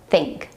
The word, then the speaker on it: think: Let's practice the word think. Stick out your tongue between your top and bottom teeth.